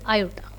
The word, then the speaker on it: aorta: आयोटा जो है वो मेन आर्टरी, अगर आपसे कोई पूछ ले मेन आर्टरी का नाम, तो that is आयोटा। Spelling is AORTA बट we pronounce it एज आयोटा, okay.